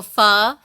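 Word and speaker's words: phở: So pho, it's spelled PHO, is the traditional Vietnamese noodle.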